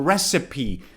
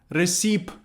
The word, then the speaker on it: recipe: I ask my mom for a recipe, pay attention to the pronunciation of this word, it's not ricip.